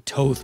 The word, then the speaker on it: Thoth: the egyptian gods thoth it's probably toth by the way it's t-h-o-t-h and i don't know how to pronounce it and isis as